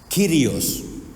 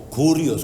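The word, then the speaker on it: κύριος: primera de ellos es kirios o curios como dicen al si solo como un dato por ahí cuando ustedes oigan ambas pronunciaciones son correctas la palabra curios es la palabra misma kirios pero en algún momento esa Esa letra xilon que es para nosotros es la que llamamos la y dejó de pronunciarse como u y la pronunciaron como I Entonces no se preocupen por Cómo se pronuncia pero esa palabra griega kirios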